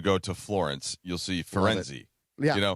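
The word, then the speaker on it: Firenze: You only have to say Fenzi. That's the local pronunciation."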